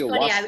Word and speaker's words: ayahuasca: I don't remember when, but ayahuasca. So maybe just am I even pronouncing it right? Ayahuasca. It's ayahuasca.